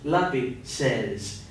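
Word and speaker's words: lápices: Lati says is Los lapi says notice that the z's are usually pronounced like a double s anyway so when you change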